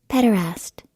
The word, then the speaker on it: pederast: Pederast. Okay. So there we go. That is the actual definition. That's the actual pronunciation. That's the word. Pederast. So I fucked up again on my show.